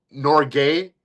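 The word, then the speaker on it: Norge: So there's actually there's a better one I think where it's just they say like and so it's not Norway, it's Nor gay, which is like Norwegian.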